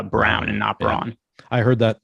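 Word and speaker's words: Braun: just recently found out it's spelled b-r-a-u-n but it is actually pronounced uh Brown and operon I heard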